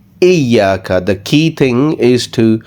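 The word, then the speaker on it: إياك: this one is that wherever you get ya with a shadda, it should not be pronounced with a harsh sounding voice. So it should not be Ijaka. Okay, it should be Iyaka.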